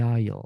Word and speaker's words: aisle: Wing down the aisle.